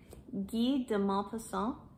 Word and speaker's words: Guy de Maupassant: The Necklace by, now I was told how to say this, I'm gonna try, Guy de Maupassant.